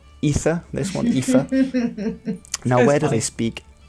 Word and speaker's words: Aoife: think it's Aoife, this one, Aoife.